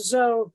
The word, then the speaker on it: Zoe: And while we're correcting names, it's Zoe. The E is silent.